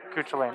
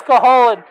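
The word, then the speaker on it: Cúchulainn: No, everybody mispronounces it. I know, Everybody. but it's Cahalan. PSA to all Final Fantasy players: it's Cahalan the Impure. Yeah, it's pronounced Cahalan.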